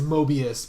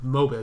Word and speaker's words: Mobus: We just keep adding the I because we're used to the word Mobius. I'm used to hearing it as Mobius, but it's Xander Mobus.